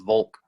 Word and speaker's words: Volk: because yeah the german word for folk is volk or but it's pronounced the same way it's just the the